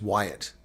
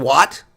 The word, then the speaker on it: Wyatt: mean, guys, I mean, my last name is Wyatt. W-Y-A-T-T. Wyatt. How would you pronounce it the other way? Well, if you're black and you're an American or African, you can pronounce it wrong. Mr. Watt? How do you get Watt? Mr. Watt? Mr. Wyatt? No, it's Wyatt.